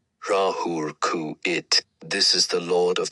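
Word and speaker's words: Ra-Hoor-Khuit: R E A dash H O R Dash K H U I T pronounced Rahuluru it.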